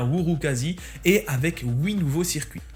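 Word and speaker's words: Urukazi: patch additionnel whouri alors ça s'écrit urukasi mais ça se prononce bien whour quasi et avec oui nouveau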